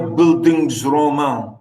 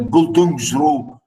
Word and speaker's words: Bildungsroman: I said a German pronunciation. You can see here, Bildungsroman, you know. I'm trying to say it in the English, in the German pronunciation.